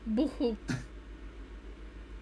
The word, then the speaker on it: buchu: Boohoo. There we go. Oh my God. Amazing pronunciation.